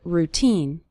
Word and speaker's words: routine: of your daily routine the syllable teen is stressed in the word routine you'll start seeing your